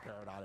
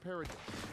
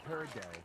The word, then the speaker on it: peridot: It's exactly like it looks, everybody.